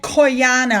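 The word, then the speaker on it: Cuyana: there's a company called coyana I think you pronounce it c-u-y-a-n-a and they announced that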